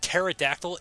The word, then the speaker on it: pterodactyl: very sucky sometimes like the word pterodactyl starts with the letter p and i'm like what